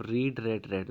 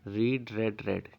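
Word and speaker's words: read: देखो बच्चों बोलने में अलग होता है पर स्पेलिंग ये सेम ही रहती है, रीड रेड रेड। ठीक है, स्पेलिंग सेम रहती है पर हम इसको बोलते हैं रीड रेड रेड।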